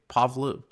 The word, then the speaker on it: Pahlavi: pundits or they're putting Reza, how do you pronounce his last name? Pahlavi, Yeah, and they're just all sucking up to